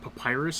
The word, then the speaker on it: Papyrus: Is it Papyrus?